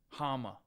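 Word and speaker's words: Háma: but I don't know Hama his name's Hama I don't know if I can lose anybody lose to anybody that's name rhymes with Kama yeah I got pounced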